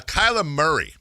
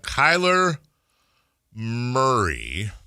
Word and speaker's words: Kyler Murray: Uh Kyla Murray. K. Why I say it like Kyla Murray. Kyla Murray. Uh Kyler Murray uh is going to get released.